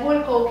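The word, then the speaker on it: Wulckow: I don't pronounce it W because I think so there's Hulkov and there's Hulko. So if I said Hulkov, it would be from Russian, but Hulko would be the pronunciation that in Brandenburg and in Prussia would be used. So you don't pronounce the W.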